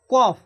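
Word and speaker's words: كاف: এই কাফ, কাফের উচ্চারণ মাখরাজ হচ্ছে জিবের গোড়া থেকে একটু আগে, মানে যেখান থেকে কফ উচ্চারণ হচ্ছিল তার একটু আগে থেকে, জিবের গোড়া থেকে একটু আগে এবং তার বরাবর উপরে তালুর সাথে লাগিয়ে উচ্চারণ হয় কাফ কাফ কাফ।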